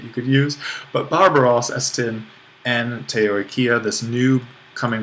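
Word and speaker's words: ἔστι: And for this, we'll put an accent on the penult of the verb, esti.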